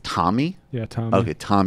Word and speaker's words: Tomi: wrong Tommy Lauren yeah I always want to say tell me it's not do C called her that too it's don't it's Tommy yeah okay Tom it's